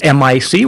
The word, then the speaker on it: mic: series called Open Mic we're spelling it mic we're pronouncing it mic as in microphone my name is